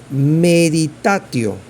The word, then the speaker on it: meditatio: Meditación, meditatio. Meditatio, con T.